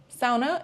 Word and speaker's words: sauna: Sauna is a Finnish invention, so you'll be able to find saunas everywhere, and be sure you say sauna and not sauna because that's how you pronounce it in Finland.